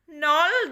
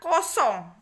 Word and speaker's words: nol: 15 hasilnya tetap Indonesia nol dibagi min 6 atau negatif Anam hasilnya juga tetap nothing Avia bacanya nol bukan kosong Kalau kosong itu nggak ada isinya dalam matematika Ini dibaca nol ya sifat selanjutnya setiap bilangan